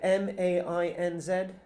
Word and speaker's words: Mainz: Archaeologists at the University of, I can't pronounce this word, M-A-I-N-Z?